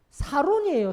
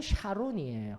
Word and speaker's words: 샤론: 예, 샤론의 꽃 예수 이러니까 샤론 하는데 히브리어도 샤론이에요. 히브리어 발음대로 하게 되면. 근데 한글 번역은요 사론이라고 해놨어요. 개정개혁에서는. 그래서 우리는 항상 그걸 볼 때마다 사론인데도 샤론 했었어요. 저도 마찬가지고요. 히브리어는 그런데 샤론입니다.